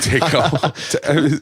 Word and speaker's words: Taako: Taco. It's spelled Taako.